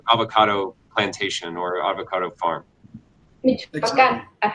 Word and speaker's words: Michoacán: Michoacán. How do you say it again? Yes. Michoacán. Michoacán.